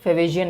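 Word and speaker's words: Fetvajian: यहाँ पर T silent है फेवेजियन में, और कह रहे हैं कि विच एट वन टाइम, जो कभी किसी फार्मर की प्राइड हुआ करता था।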